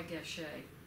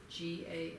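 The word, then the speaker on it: Gasché: It's by Gachet. Gasche, accent on the E.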